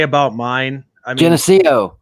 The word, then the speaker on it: Geneseo: I mean, Geneseo, right?